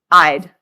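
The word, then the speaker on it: -ide: Yeah, these ones become "ide," so they end in "ide." It's not oxide. Now, it's oxide, and they always have 2 syllables.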